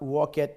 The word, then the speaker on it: walked: If we are to pronounce it in the past tense, the t sound must come. Walked. Instead of, unlike attended, if we say this, attend, in the past tense will be attended. But walk, in the past tense, this ed, we cannot say walked. What do you say? Walked. It's like pronounced as walkt, walked.